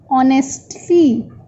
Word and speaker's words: honestly: As we are reading this word so many times, so it is honestly. We never say honestly. H is silent, so we say honestly.